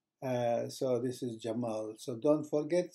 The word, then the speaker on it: Cemal: this letter pay attention it's pronounced as the English J so for example if